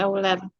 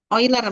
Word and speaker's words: Euler: bilangan euler bukan Iya tulisannya euler tapi Bacanya jangan euler ya Ini nama orang ini di orang Jerman kali kali Iya karena di sana kan EU itu dibaca oi ya oiler bacanya Ya jadi kalau kalian juga